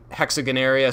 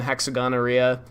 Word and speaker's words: Hexagonaria: I happen to think hexagonaria sounds cooler than hexagonorrhea. You could call it either thing if you really wanted to.